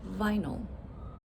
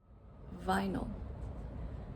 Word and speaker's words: vinyl: So how about the word vinyl? Vinyl. Okay, so the schwa is the second syllable, vinyl. And as we know, that is spelled with a Y.